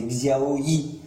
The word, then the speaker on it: Xiaomi Yi: Euh, elle a un drôle de nom, hein. C'est Xiao I. Ouais, c'est pas évident à prononcer, hein.